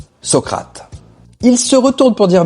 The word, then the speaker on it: Socrate: Au loin, il entendit alors une voix lui souffler la bonne prononciation Socrate.